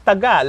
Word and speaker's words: taga: But we pronounce it Taga. So not Taga, but it's Taga.